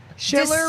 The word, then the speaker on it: Schiller: with the guest, Schiller, president of the Minnesota Distillers Guild. What are you going to teach us today, bud? Such a fancy title. Yeah, big title. So... Schiller rhymes with distiller.